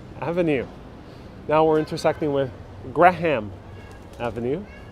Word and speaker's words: Graham Avenue: now we're intersecting with graham avenue of course they all be very proper people who are pronouncing gram but the real locals the new eurekans that lived here they call it graham graham it's also known as